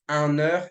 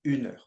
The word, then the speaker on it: un: pay attention to right don't say an it's un now you also have